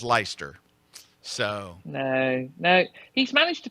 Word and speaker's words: Leicester: Riaz is asking me, Scott, how do you pronounce, I'll spell it, Leicester? Well, now, it looks like, to an American, it looks like Leicester, but I know that it is Leicester.